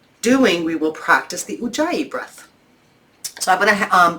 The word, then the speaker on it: Ujjayi: It's spelled U-J-J-A-Y-I, Ujjayi.